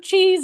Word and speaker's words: cheese: The E at the end of cheese is silent.